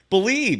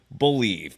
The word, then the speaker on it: BLEAV: Head to BetOnline today, and don't forget to use the promo code Believe. It's the name of the network that we're on. It's spelled BLEAV. Again, use the promo code Believe, BLEAV, for your welcome bonus on your first deposit.